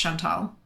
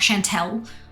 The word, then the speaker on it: Chantal: yes ah Chantal the I think her name is pronounced Chantal um but uh it is she yes shivay um it's c-h-a-n-t-a-l so it's not Chantelle I think it's Chantal but um she's ju